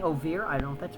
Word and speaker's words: oeuvre: Ouvra. I beg your pardon. It's pronounced ouvra, not orva.